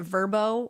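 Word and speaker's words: Vrbo: And honestly, the fact that Verbbo wants me to pronounce it Verbbo when it's literally an acronym full of straight up consonants is pissing me off.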